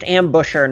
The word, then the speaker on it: Ambusher: It's pronounced ambusher, not ambition.